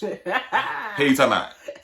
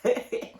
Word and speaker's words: Helutalmout: We shorten everything, you know. Southern tongue is real lazy, so we don't like to use a whole bunch of syllables. So what the hell are you talking about?